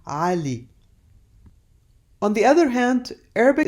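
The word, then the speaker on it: علي: and ah which is an a sound again pronounced from way back in your throat ah like the name Ali on the other hand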